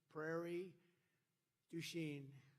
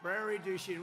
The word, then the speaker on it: Prairie du Chien: So we're here today in Prairie du Chien. Is that a good pronunciation?